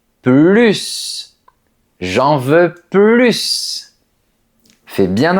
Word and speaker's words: plus: Le mot plus est un excellent exemple parce qu'il peut se prononcer de plusieurs façons. Regarde cette phrase. Je n'en veux plus. Ici, ça veut dire je ne veux plus de cette chose. Dans ce cas, on prononce plus parce que c'est une négation.